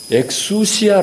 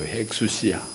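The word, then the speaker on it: ἐξουσία: 영월 식으로 써 놨지만 엘란 말입니다 액수 시야 라고 읽어 액수 시야 권위 권세 4 액수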